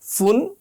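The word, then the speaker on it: ف: ফা উচ্চারণ করার সময় উপরের দাঁত আর নিচের ঠোঁট লাগিয়ে ইংলিশ এফের মতো ফা উচ্চারণ করতে হয়। আমাদের ফা যাতে ফয়ের মতো না হয়, দুই ঠোঁট লাগিয়ে উচ্চারণ করতে হয় ফ, যেটা ইংলিশ ফি এর মতো। আমরা ফা বললে হবে না, আমাদের বলতে হবে ফা।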